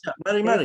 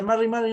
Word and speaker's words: Mari Mari: Eso, Mari Mari, eso. se pronuncia Mari Mari, nomás para responderlo, porque era muy acotada la pregunta, sí.